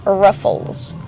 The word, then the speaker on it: ruffles: Use the short uh sound like cup and up for the first syllable. R-ruff. Ruffles. Then a short sound for the second syllable.